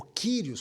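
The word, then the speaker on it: κύριος: é o vocábulo grego kurios. Este vocábulo só era usado para uma única pessoa em toda a terra: César. César. Esta expressão, este título, kurios, ou Kyrios, como alguns gostam de pronunciar, só era usado para uma única pessoa.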